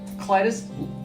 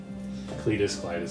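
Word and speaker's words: Klytus: A noble named Clytus List? Clytus List. Cletus, whatever you want to pronounce it. Both ways are correct.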